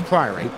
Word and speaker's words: Priory: Are we still having our pronunciation battles on that? Priory? Yeah, it's Priory.